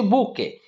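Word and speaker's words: bouquet: हमें कोन कहूचे बुके बुझेला स्पेलिंग किंतु देखो पिले बुके रो पी ओ यू क्यू ई टी बुझेला किंतु हमर प्रोनाउंसिएशन होची बुके ए बुके of flowers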